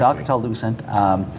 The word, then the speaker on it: Alcatel-Lucent: It's Alcatel-Lucent.